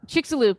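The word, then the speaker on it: Chicxulub: is i know you told me how to pronounce this before chilluxo uh crater lube chick's a loop thank you that we can't actually see uh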